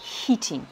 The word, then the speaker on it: heating: L'air conditionné, la climatisation, c'est air conditioning, et le chauffage, c'est heating, avec un long i et on prononce bien le h.